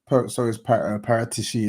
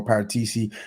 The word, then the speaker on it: Paratici: And I think so is Paratici as well, Paratisi, however you want to pronounce it.